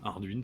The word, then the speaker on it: Ardwen: Arduin qui s'écrit comme la bière, mais qui se prononce Arduin.